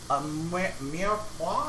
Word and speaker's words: mirepoix: It's a mirepoix, I think is the pronunciation.